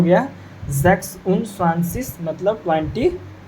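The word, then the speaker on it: sechs: तो आपको पता बताए थे कि सिक्स को सेक्स बोला जाता है। सिक्स को क्या बोला जाता है? जेक्स बोला जाता है। एस सी एच ई एस।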